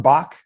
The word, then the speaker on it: Bajc: Who is it pronounced Bach? I always been meaning to ask you that. yeah. I think no guy from America or New Zealand or Australia can pronounce it. So it's Bajc.